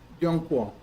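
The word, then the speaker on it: Zhongguo: Yongguo. Se escribe con ZH, pero se pronuncia como Y. Yongguo. La G se pronuncia como Q.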